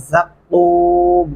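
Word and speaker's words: زقوم: लआकिलून मिन शजरिन मिन ज़क़्क़ूम, शजरिन मिन यहाँ पे गुन्ना करेंगे, ज़क़्क़ूम ज़ा सख्ती से अदा करेंगे, क़ाफ गले से अदा करते हुए लंबा करेंगे और मीम को साइलेंट करके वक़फ़ कर देंगे।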